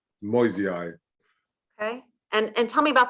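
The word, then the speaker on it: moyesii: I suppose it's just, you could say it's MOY, Moi, and then the S is a Z, a Z, Moisei.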